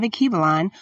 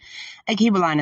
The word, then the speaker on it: Alkebulan: Akibalon is spelled ALKEBULAN.